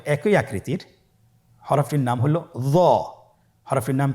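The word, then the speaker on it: ظاء: হরফটির নাম হলো য। হরফটির নাম কি? য। একটু মোটা করে বলতে হবে। হরফটি হলো মোটা হরফ, বারিক করে পড়া যাবে না এবং হরফটি উচ্চারণ করার সময় অবশ্যই 1 আলিফ টেনে পড়তে হবে।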